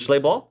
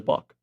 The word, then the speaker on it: Schlabach: Is it Schlabach? Schlabach. Okay, it's not Bach? Mm. You pronounce it Schlabach. No, I think it's better as Bach.